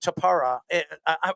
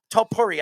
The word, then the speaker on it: Topuria: I just, first of all, I think Tupera. I'm sorry. How do you pronounce Topuria. Topuria. I want to correct myself.